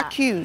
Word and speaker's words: Faquz: Faquz. F-A-Q-U-Z. We've been pronouncing Faquz now.